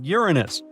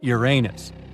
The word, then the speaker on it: Uranus: Uranus all this time actually astronomers say we should be pronouncing it like Uranus not Uranus I can't say a different stress changes much though however things could have